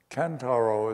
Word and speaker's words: Kentaro: could use in English kantaro is a Japanese name two syllables can and Taro two symbols kentaro is 27 years